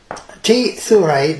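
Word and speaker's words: T. Thurai: T.Thurai, that's spelled T-H-U-R-A-I.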